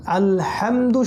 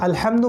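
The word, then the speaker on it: الحمد: সেটা হলো যে আলহামদু শব্দের মধ্যে যে হাটা আছে, সেই হাটা হচ্ছে হায়ে হুত্তি, যেটা গলার মাঝখান থেকে উচ্চারণ করতে হয়, ঠিক আছে। আলহামদু শব্দের অর্থ হচ্ছে সমস্ত প্রশংসা। কেউ যদি আলহামদু না বলে আলহামদু বলে, অর্থাৎ হাটাকে ছোট হা উচ্চারণ করে আলহামদুলিল্লাহ, তাহলে অর্থ কিন্তু পুরো চেঞ্জ হয়ে যাবে।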